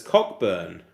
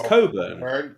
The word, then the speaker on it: Cockburn: might be wrong but he did pronounce it as um as as cockburn uh but it's Coburn Coburn cockburn yeah that's